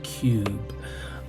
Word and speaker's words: Cyube: we're looking at Cube VR that's right it's pronounced Cube uh this game is something that I was